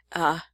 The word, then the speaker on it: Vriesland: So Lindsay, yours is Vriesland, right? or wait, I don't know if I said it right. Vyslland.